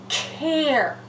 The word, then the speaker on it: care: But look what happens when I add the silent E. I'm going to put a line through the silent E because it's silent. And I'm going to put a macron above the A. And now we've gone from car to care.